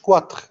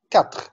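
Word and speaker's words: quatre: لا، مش كواتر، كاتر، كاتر ايطاليان، كاتر ايطاليان، سينك ايرلاندا، ايرلاندي، ايرلاندي، سيت اسبانيول، سيت، البي مش منطقه، سيت، سيت اسبانيول، نوف المون، نوف المون، نوف المون.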